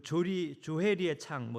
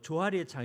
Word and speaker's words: 조해리의 창: 사람과의 관계도 마찬가지인데 그 미국의 심리학자 조셉 루프트와 해리 잉햄의 이름을 따서 그 조해리의 창, 조하리의 창 이렇게도 이제 발음에 따라 불리는데요.